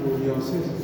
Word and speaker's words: Psoriasis: क्या नाम है, सोरियासिस, सोरियासिस पी से होगा, PS, देखो ये PSORIASIS, सोरियासिस, पी साइलेंट। ये क्या करेगा, यहाँ यूरिया